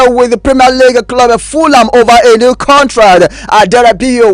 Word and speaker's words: Fulham: Fulham is said as a Fulham, not a Fulham. Of course, it's been spelled as Fulham, but that H is silent.